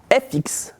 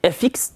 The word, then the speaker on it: FX: Bien, FX n'a pas de traduction particulière. Si vous prononcez avec le bon accent le mot effects et le mot FX, effects, c'est juste une abréviation de effects, c'est tout.